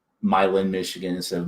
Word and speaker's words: Milan: And I know because in Michigan we say Milan, Michigan instead of Milan. Yes. So we're all guilty of Americanizing European names, and the island number 10.